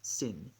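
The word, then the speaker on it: שִׂין: with a sh shin the dot over the left indicates that we pronounce it with an s sin shin or sin it's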